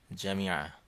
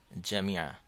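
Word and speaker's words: جامعة: এর পূর্বের কোন একটি ক্লাসে আমরা বলেছিলাম যে যদি কোনো আরবি শব্দের শেষ অক্ষরটি গলতা হয় তাহলে সেটি হায়ের মতো উচ্চারণ হয়। যেমন এই জায়গায় এই শব্দটি উচ্চারণ করলে হবে জামিয়া। জামিয়া, ইউনিভার্সিটি, বিশ্ববিদ্যালয়।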